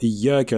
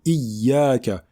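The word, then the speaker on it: إِيَّاكَ: Tout d'abord, nous avons ici, sur la lettre Ya, des deux mots Iyyaka, une shadda.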